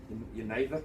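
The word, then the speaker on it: Genever: Geneva is how you say it.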